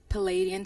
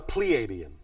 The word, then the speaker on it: Pleiadian: have any relationship to the Palladian civilization do you mean the Pleiadian yes thank you for the pronunciation yes and the next